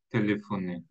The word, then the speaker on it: téléphonaient: Les voisins leur téléphonaient. Alors, excellent. Leur téléphone. Téléphone, oui. ENT à la fin, on ne prononce jamais.